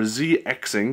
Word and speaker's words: ZXing: Now, this app is by Zebra Crossing, or ZXing, depending on how you want to pronounce it.